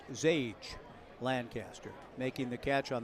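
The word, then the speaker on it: Xiage: I've ever seen before x i a g e x i GE pronounced zage Lancaster making the catch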